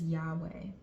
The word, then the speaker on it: Yahweh: And we pronounce it as Yahweh. Yahweh.